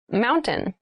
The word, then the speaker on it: mountain: it sounds like mountain the t sound is reduced the little town was